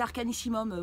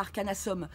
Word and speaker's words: Arcanissimum: Euh c'est c'est Arcanissimum mon nom. Euh c'est pas Arcanasom.